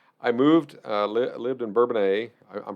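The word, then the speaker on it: Bourbonnais: part you have to say the village is bourbon a the township is burbonis yes yeah so that is right which is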